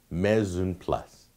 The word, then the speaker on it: mise en place: Your next term is called Mise en place. That's right. That's how it's pronounced. I know because I checked the pronunciation. It's French. Mise en place.